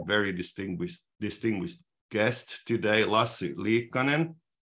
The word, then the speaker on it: Lassi Liikkanen: distinguished distinguished guest today lastly Conan my name is pronounced in Finnish and I've been involved